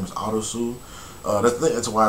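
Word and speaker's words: アリス: character, his name is Arisu. That's why it's called Alice in Borderland, because I think Arisu is the Japanese pronunciation of Alice.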